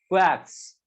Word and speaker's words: quarks: क्या क्वार्क्स, are silent है क्वार्क्स, ठीक है, तो इससे बना हुआ होता है।